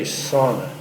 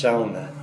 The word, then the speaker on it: sauna: Even though if you read it and pronounce it with English phonetics, you get it wrong. You'd say sauna, but it's pronounced sauna.